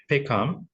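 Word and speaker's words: PACOM: 선언입니다 자 그다음 어 커맨드는 줄여서 페이컴이라고 줄여 쓰고 발음을 하고 그래요 페이컴 자 그다음 트랜지션 세리머니는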